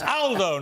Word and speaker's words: Aldo: picked me up but it's Aldo not older Aldo's a very British pronunciation in Italian uh good to see